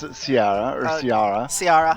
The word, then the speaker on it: Ciara: But it's in Gaelic it would be Kira. Kira. Okay. Welcome to Rome, Kira. Let's begin your story. Alright. So we're calling it Kira. It's spelled like Sierra, but it's Kira.